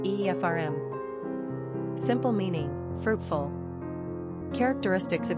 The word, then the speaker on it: Ephraim: Pronunciation, Efrayim.